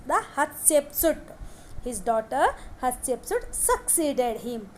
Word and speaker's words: Hatshepsut: His daughter Hatshepsut, note this point, pronounced the Hatshepsut.